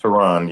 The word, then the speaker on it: Terron: Is it Tehran? Is that how you say it? Teron, yeah. Yeah, and I thought it was cool.